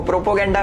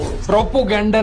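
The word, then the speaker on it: propaganda: Anti India लिखो, प्रोपोगेंडा फैलाओ, प्रोपोगेंडा फैलाओ। प्रोपोगेंडा नहीं Elvish, प्रोपेगेंडा होता है नहीं।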